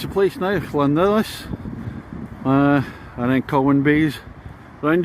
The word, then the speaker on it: Llandudno: which I think we'll get Llandudno right at the next one, and the next bay along is Colwyn Bay.